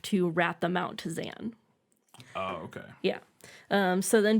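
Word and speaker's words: Xan: His name is Zan, spelled with an X, and he's the Warden of England, which basically means that he's the dictator, as I've mentioned.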